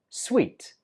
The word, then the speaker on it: suite: You might use number 12 at a hotel, and this one is difficult to pronounce because the spelling is nothing like the pronunciation. We pronounce this word as suite.